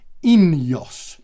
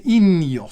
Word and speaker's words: Ineos: It's all going to be produced in Monaco, and the name of that company is Ineos. Okay, Ineos. So in as in and out of fashion, and then Jos as in Jos van Enden, great Dutch time trialist.